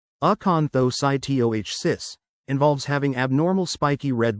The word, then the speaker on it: acanthocytosis: Aanthocytosis pronounced aanthocytoh cis involves having abnormal spiky red blood cells called eanthsytes in your blood.